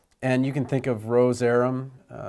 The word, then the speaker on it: Rozerem: you can think of Rozerem, roz- rhymes with doze, REM for rapid eye movement sleep, so a lot of hints in these brand names certainly worth remembering.